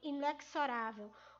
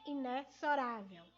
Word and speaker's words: inexorável: A palavra inexorável. Professora, inexorável? Sim, inexorável. Ou seja, é uma palavra que muitos têm uma maneira equivocada de pronunciar, que é falando inexorável. Você é um ser inexorável, tá? Entretanto, não é a pronúncia correta. Muitos falam, mas não é a pronúncia correta. A pronúncia correta é inexorável, certo?